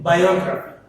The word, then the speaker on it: biography: If we take biography, what is that? Biography. The biography has 4 syllables again. They are biography. From the ending, 3rd syllable is O. So O is the stressed syllable.